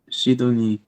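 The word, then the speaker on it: シドニー: That's how you pronounce it in Japanese. Sydney. Sydney. Sydney. Shidoni.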